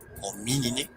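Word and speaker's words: Homininae: terminación de las subfamilias, mismas que terminan escritas en NAE, que, como hemos visto, se pronuncia como NE. Así tenemos subfamilias como Canine, Feline, Hominine, entre muchas otras más.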